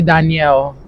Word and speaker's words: Danielle: Well, it's really Danielle. That's how you pronounce it.